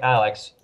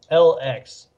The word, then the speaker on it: LX: Don't have to say it like Alex. Just LX.